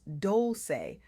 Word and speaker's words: Dolce: I'm your host, Dolce, pronounced doulce, like sweet softness whispered in French.